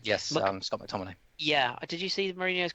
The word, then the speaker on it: McTominay: Oh, I get his name wrong. Yes, Scott McTominay.